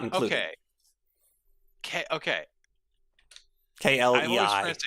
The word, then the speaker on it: Klei: When you say by clay, can you Don't Starve and Oxygen Not Included. Okay. Okay. Klei, clay. Yeah, rhymes with play.